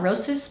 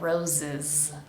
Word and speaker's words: roses: into R red roses make sure both of these s's are pronounced like a z vibrating sound roses it's not roses but roses now we have late